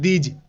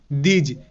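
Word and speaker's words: these: rule অনুসারে ই এর long term sound যেমন দিজ টি এইচ ই এস ই দিজ টি এইচ তে দ ই এর উচ্চারণ ই এমনটাই হবে অর্থাৎ দি এবার এস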